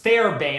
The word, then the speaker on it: Fairbairn: It was produced by Bruce Fairbairn, I think is how you say his name.